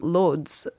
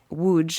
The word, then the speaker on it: Łódź: It's from Lodz, Łódź in Polish pronunciation, in the 30s, where